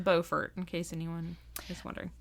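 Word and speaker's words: Beaufort: from where we live yeah and it is pronounced bfort in case anyone is wondering and South South Carolina it is bufort but up here it's bordt when I lived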